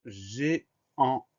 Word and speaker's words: géant: Et à la fin de ce mot-là, il y a un T muet.